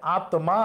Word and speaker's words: আত্মা: মাঝখানে এবং শেষে থাকলে যে বর্ণের সাথে থাকে ওই বর্ণ দ্বিত্ব হবে।